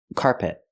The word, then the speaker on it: carpet: I cannot say carpet carpet I cannot stress both syllables I stress the first syllable so it's carpet carpet the second syllable is not stressed it's closed and relaxed p p not carpet